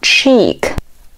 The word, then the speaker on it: cheek: 示脸颊，读作 cheek。我们来看一下第一个音标，读作 ch，注意这个音发音的时候嘴巴是往前撅的，类似于中文中吃东西的吃，但是嘴巴是往前撅的 ch，组合在一起 cheek，表示脸颊。